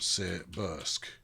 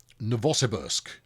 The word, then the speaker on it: Novosibirsk: with RAM very good no vote see Bursk right Novosibirsk that's another way you could pronounce it if you wanted to get it wrong right it's grabbed the